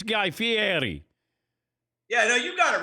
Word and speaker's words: Fieri: Okay, because I had people in my audience who were saying that I was mispronouncing it. And my wife's Italian, so I said, no, it's Guy Fieri.